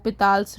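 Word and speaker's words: L'Hôpital: a rule for finding limit which is called lals Rule it's written in this way but it's pronounced as Lal so uh that rule we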